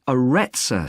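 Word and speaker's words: Arretsa: It's called the Aretsa Centre. That's spelled A-R-R-E-T-S-A.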